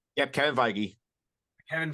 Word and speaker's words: Feige: make sure I pronounce that correctly did I pronounce that correctly yep Kevin feige Kevin feige Star Wars movie is officially dead and